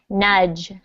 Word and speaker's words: nudge: tough one where the the d and g sound go together so the word is actually nudge not nudge okay can everyone repeat after me nudge this is a good